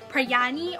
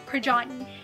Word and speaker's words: Prajani: And some people tend to pronounce my name as Prayani or Prajani, which are both incorrect forms of my name. The correct way and correct form to pronounce my name is actually Prajani.